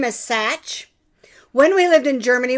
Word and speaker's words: Sach: Because my last name is Sach. When we lived in Germany, we got called socks. We get called Sach all the time. But it's actually Sach like patch.